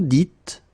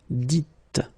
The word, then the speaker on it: dites: So it's not vous disiez, okay, as many would think, but then it's vous dites, okay, final S not pronounced, vous dites.